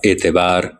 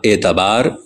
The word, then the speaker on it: اعتبار: ہوتی ہے، جیسے اجتناب، اعتبار، انقلاب، انضمام وغیرہ۔ بعض لوگ ان کو اجتناب، اعتبار، انقلاب اور انضمام پڑھتے ہیں۔ یہ تلفظ غلط ہے، کیونکہ اجتناب اور اعتبار افتعال کے وزن پہ ہیں۔ باب افتعال مستقل عربی